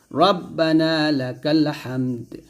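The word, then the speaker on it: ربنا لك الحمد: পেশ দু হামদাল হবে রব্বানা লাকাল হামদ হামদ এই দালটা সেকেন্ড হবে হামদ তারপর হাম জবর হামদাল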